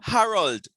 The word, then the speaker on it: Harold: I'm not hearing the last sound.